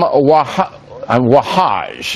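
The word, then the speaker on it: Wahhaj: But I wonder if Imam Wahaj, that's how you say his name, he's a New York Imam who runs a radical mosque here, as you know.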